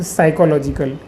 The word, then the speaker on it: psychological: अब फिजियोलॉजिकल या फिर साइकोलॉजिकल, हाँ ये एस वाई क्या बोलता, ये पी साइलेंट है, इसको साइकोलॉजी यस से स्टार्ट करने का, साइकोलॉजिकल आया समझे।